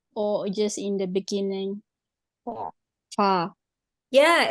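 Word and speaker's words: ف: It is also going to be with the F sound. Fa. Whenever we pronounce the letter F or the letter fa, the very corners, the tips of our first 2 teeth are going to be touching with the lower lip inwards. That is the wedge part of our lips.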